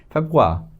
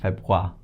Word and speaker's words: Februar: Febu sound and a is kind of silent right? Febwa that is yanwa febwa.